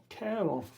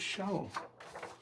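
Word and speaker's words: Charon: Ravels, Sharon, the ferryman, or as they pronounced here, Caron. I've always said it's Sharon.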